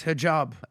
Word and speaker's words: Hijab: This is Hajib. I believe he was on the podcast before. Pronounce his name, Chris. Hijab.